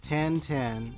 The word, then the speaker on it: 1010: their little two good luck youtube 10 10 pronounced yep 10 10 is a line of handsome robots claiming to